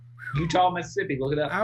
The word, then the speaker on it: Eutaw: To start the conversation for this, Utah is spelled EUTAW here, by the way. Utah, Mississippi.